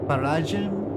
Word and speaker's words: paragem: That's paragem. They're definitely not saying M like a hard M. Em que paragem saio?